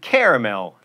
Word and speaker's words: caramel: keep that tea silent and caramel three syllables caramels also acceptable you get guacamole or